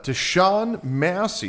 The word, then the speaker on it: Tashaun Massey: Now, today uh we've got uh Tan Massie. Did I pronounce that right? Yes. Tawn Massie uh from Coins and Confidence.